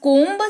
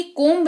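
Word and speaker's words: comb: जाता है क्लियर क्या अगर बी है सबसे आखिर में और उसके ठीक पहले एम लगा हुआ है तो बी जो है वो साइलेंट हो जाता है। उदाहरण के तौर पर सबसे पहला शब्द है हमारे पास कोब सी ओ एम बी कोंब जी हां गलत पढ़ा आपने भी और मैंने भी कोब्ब नहीं इसको कोम पढ़ते हैं।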